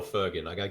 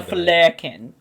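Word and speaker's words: Flerken: Goose is one of my favourite, film animals / flurkins. Because Goose is absolutely incredible. And you can see how much sorry? Did I say Flurkin or Fergan? I don't know, it's a Flurkin.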